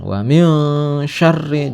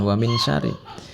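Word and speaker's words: وَمِن شَرِّ: tidak jelas ya berengeng Wamin syarri jangan Wamin Syari ya syarin naffasati annafasati annafasat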